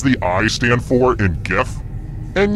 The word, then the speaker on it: GIF: I stand for in GIF and yes I pronounce it with the G sound not the J who said this